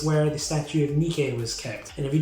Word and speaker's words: Nike: now located in france fun fact about that though nikkei is spelt nike if you think that's a coincidence you are completely wrong nikkei is the goddess of